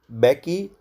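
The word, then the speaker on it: Mbeki: थाबो बैकी एम जो वहाँ पे साइलेंट है, sworn in the first deputy president.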